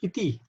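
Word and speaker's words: इति: But when, for example, in iti, the next word, there is no dot, so then there's a T, the soft T.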